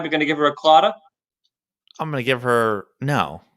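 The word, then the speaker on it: Claddagh: this off i'm gonna read the letters it is c l a d d a g h is british for something a little bad all right talk about everybody alfred i'll pronounce it it is clotta no clue what is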